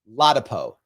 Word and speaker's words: Ladapo: JGJ said it's pronounced Latapo." Thank you. Um with with General uh Surgeon General Florida Surgeon General Dr. Ladapo.